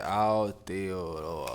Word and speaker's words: Aotearoa: The indigenous That's how you say it, Aotearoa.